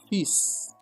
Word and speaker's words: fils: But if you are talking about threads it will be fil. Fil. But now in case now that very word is to mean now son pronunciation is completely different. It will be what? Fis.